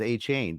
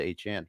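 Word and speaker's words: Achane: Now I'm kind of looking at our and the official pronunciation guide that the NFL sent out, it was A-Chain, but he decided to change it to A-Chan.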